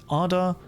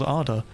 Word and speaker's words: Ada: My favorite is Ada Lovelaces.